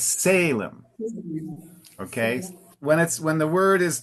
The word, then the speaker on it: Salem: If the pronunciation in Portuguese is Salem, uh, in English the emphasis always moves up more to the front. So it's Salem.